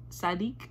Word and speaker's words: Saadiq: again okay right now we have Raphael sadik sadik that's how you say it ask of you